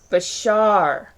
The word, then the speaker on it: Bashar: It's not Bashir. That was the name of the doctor on Deep Space Nine. Uh-huh. Shar. Bashar. Okay, I've been saying it wrong.